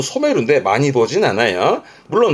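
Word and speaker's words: 初める: 하지메루 아니요. 하지메루가 아니고요. 이때 발음은 소메루입니다. 하지메루는 처음가 아니라 처음 시을 씁니다. 한자 다릅니다. 요거 발음은 소메루인데 많이 보진 않아요.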